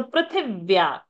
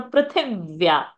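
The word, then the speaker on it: पृथिव्याः: So prithivya. So vya is there, conjunct. Thi of prithi is rasva sound, short sound. So prithivya. So one extra iv has come. Prithivya instead of plain Prithivya.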